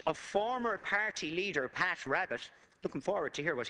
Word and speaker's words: Rabbitte: While Rabbitte, according to the quote, Deputy Rabbitte, properly pronounced, urged caution at the conference, he did